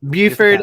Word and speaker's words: Beaufort: I know I pronounced Beaufort it wrong. County. Buford, Yep.